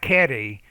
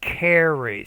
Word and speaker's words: carry: and then with the are not caddy but carry so the r you're pronouncing it like you pronounce in your language but it's more carry carry furthermore it's pretty heavy